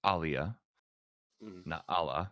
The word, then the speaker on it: Awliya Allah: there with with and I was mispronouncing it it's awliya allah you I don't put